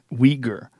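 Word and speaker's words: Uyghur: they chase him down weager the way it's spelled it's a very unusual it's spelled u y g h u r wow I would not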